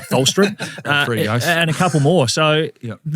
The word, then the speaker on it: Tholstrup: Tholstrup.